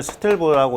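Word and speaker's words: stilb: 그 다음에 SB는 뭐냐면 스틸브라고 읽어요.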